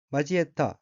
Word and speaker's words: 交えた: 셋째 줄 왼편 어깨는 한자가 한자와 사길교자가 들어있고 일본어로는 우라미치라미 오 마지에타 라고 읽으며 우라미치라미는 원통하고 쓰라린 말 쌓이고